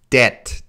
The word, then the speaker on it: debt: Grace, it's debt. D-E-T sound. Debt.